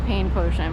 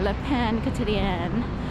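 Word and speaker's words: Le Pain Quotidien: If you were to phonetically just look at it, you could say the pain potion, but it's French for the daily bread. So, and I kind of forgot my French. I had to relearn how to say it.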